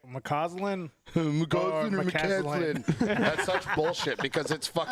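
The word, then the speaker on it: McCauslin: Lakewood L Lakewood Lakewood it's spelled MCC a u LS i n jeez moslin there's a u in it and everyone says it's mlin you don't have to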